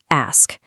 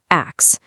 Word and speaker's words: ask: Take the word ask. We so frequently hear people say axe.